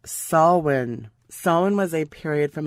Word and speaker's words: Samhain: be spelt samhain s-a-m-h-a it's an irish pronunciation pronounced salwin salmon was a period